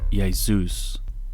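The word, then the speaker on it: Ἰησοῦς: and here is the Greek version which is pronounced yaus the number of Jesus name in Greek has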